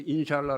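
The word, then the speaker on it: إن شاء الله: 찰나 요 들어보셨죠 인샬라 원래는 임시 알란 데 거의 재빨리 바라면서 인샬라 라고 발음합니다 무슨 뜻이냐 알라의 뜻대로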